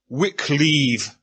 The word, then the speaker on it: Wycliffe: may have been pronounced Wycleve, because his enemies referred to him as Dr. Wicked Believe. So, obviously, you have to get some kind of rhyme there.